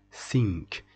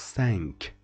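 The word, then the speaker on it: cinq: pronounce this word syn I will tell you why we don't pronounce it sink it is pronounced sank it is nazal and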